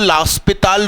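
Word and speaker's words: L'Hôpital: अब इसमें मैं अप्लाई कर रहा हूं लास्पिताल रूल। सही प्रोनाउंसिएशन यही है।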